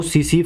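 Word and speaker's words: tsetse: फ्लाई इसमें क्या है टी है ना जो वो टी साइलेंट है तो सीसी फ्लाइट ठीक है अब देखो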